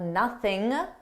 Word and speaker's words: nothing: And notice how I dropped that G sound at the end of nothing, and I said nothing, for nothing, for nothing. This isn't a requirement. I could say for nothing, and I commonly do.